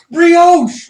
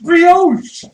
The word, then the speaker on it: brioche: two of them left right yeah no it's pronounced brioche brioche it's a bread all right so one can any of them can attack mr.